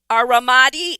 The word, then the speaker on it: Ramadi: So you enlisted in the Army, going on to serve at Ramadi, Iraq. Please pronounce that correctly for me.